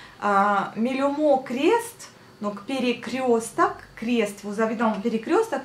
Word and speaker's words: перекресток: Перекресток, перекрещивать. De mot перекрещивать, donc крестить, de mot крест. Крест, c'est la croix. Перекресток. Перекресток. On dit le A quand on le prononce, mais on écrit bien le O.